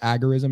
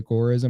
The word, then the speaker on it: agorism: Well, agora would be consistent with what the what the neologism was based on, which is agoras in the context of the ancient Greece.